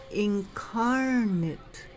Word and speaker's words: incarnate: Ang susunod po ay incarnate. Pwede rin po ang incarnate. Pero, pareho po nasa second syllable.